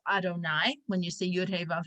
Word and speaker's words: Adonai: our names of god we have the yud hey and vavhay name of god which we pronounce adonai when you see yudhi